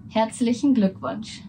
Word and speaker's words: Herzlichen Glückwunsch: Herzlichen Glückwunsch.